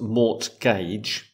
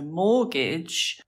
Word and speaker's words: mortgage: Because it's not pronounced mortgage. Exactly. It's spelt with a T, but the T is silent. So mortgage comes from French, which makes sense with the pronunciation.